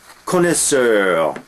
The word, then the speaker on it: connoisseur: you listen to me connoisseur French word uh pronounced despite the o i in there which is really it's based on the French verb conetta which means to know uh a connoisseur and